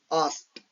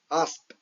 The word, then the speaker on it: asked: So for example asked okay so ed is pronounced as t. So this is asked e d is pronounced as t asked.